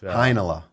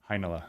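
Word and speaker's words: Heinola: now there you are heinela heinelah like vanilla and heinz ketchup but you kind of meld them together that's what i try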